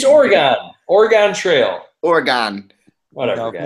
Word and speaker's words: Oregon: Oregon. It's Oregon.